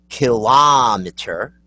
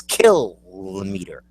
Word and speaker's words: kilometer: say that out loud and if you said it um kilometer you're wrong it's kilometer kilometer kilometer it's not see that's the way I want kilometer that's not the way you say kiler kilometer kilometer kilometer